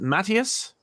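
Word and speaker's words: Matías: uh book with uh collaboration uh do I pronounce it mattius yes uh mattius bagara uh gorgeous book Incredible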